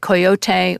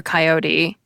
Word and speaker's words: coyote: Well, if you're in the US, both the two-syllable and three-syllable version are fine. Use whatever you prefer or what's dominant in your region. But if you're outside the US, it's probably better to stick with the three-syllable version, like coyote or coyote.